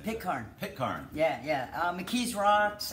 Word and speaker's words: Pitcairn: Pitcairn.